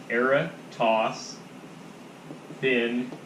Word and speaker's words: Eratosthenes: circumference pretty immediately so I'm gonna make a pronunciation key that's not phonetically good but era toss in okay what's a sieve